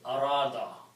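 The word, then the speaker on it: أراد: Okay, now here Vav is a weak letter, so some changes will take place in the pronunciation, and the way this word will be pronounced is arada.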